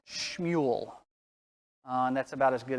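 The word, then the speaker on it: שמואל: In Hebrew, his name is actually pronounced Shmuel.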